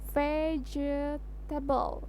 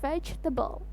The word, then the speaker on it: vegetable: memiliki arti sayuran ini sering diucapkan dengan sebutan pejja tebel padahal pengucapan yang benar adalah fade tebel nah Kalian pasti tahulah